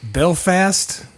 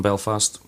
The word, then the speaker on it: Belfast: but here we go is it Belfast or Belfast Belfast Belfast as well okay so I can't put the emphasis on the last syllable you can if you want I will get the way I would sit Belfast you know fast okay that's what one would be saying I think the wrong way time and you're just